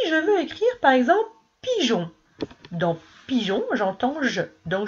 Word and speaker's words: pigeon: Alors, il va falloir que j'intercale un E entre le G et le O pour faire pigeon. Alors là, le E, il ne faudra pas le prononcer. Il ne faudra pas prononcer le mot, la lettre E. Tu diras pigeon. Mais tu es obligé de le mettre parce que si tu ne le mets pas, ce E, ça fera pigon.